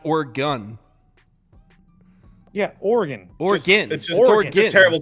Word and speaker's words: Oregon: Nicks Kings Michigan State so if it's not organ why isn't it o RG bro I didn't